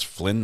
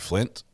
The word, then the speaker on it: Flynn: looks like young thug his name is Flynn not Flint did I did I